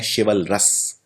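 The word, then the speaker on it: chivalrous: और जो पर्सन बहादुर होगा वो है शिवलरस, तो वो हो जाएगा CHAVALROUS, शिवलरस। तो आपको इनकी स्पेलिंग भी याद रखनी है।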